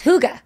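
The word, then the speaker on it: hygge: I said well but it's not pronounced like we would read it no it's Huga Huga which means what it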